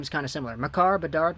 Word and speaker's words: Makar: Makar, one-time blast.